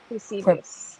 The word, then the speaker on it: Eusebius: It's a hard to pronounce name. But it's Eus- Eusebius? Eusebius.